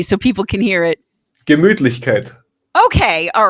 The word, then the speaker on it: Gemütlichkeit: Gemütlichkeit.